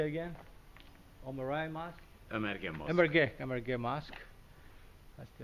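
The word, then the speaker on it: Ömeriye: And then actually you can see behind it the mosque we just came from, Omarai. I always have trouble with the names. How do you say it again? Omarai Mosque? Emerge Mosque.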